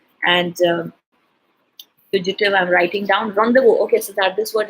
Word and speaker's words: rendezvous: But normally the word rendezvous, again, rendezvous is again a French word, which means you don't pronounce it as res then was, So rendezvous